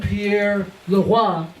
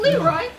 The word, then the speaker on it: Pierre Leroy: And to begin this discussion with the Haitian Revolution, we have Terry and Pierre Leroy. That's the correct pronunciation. I was afraid he'd go Leroy.